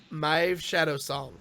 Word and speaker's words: Maeve Shadowsong: It's our first alternate rogue hero, and it's Maeve Shadowsong.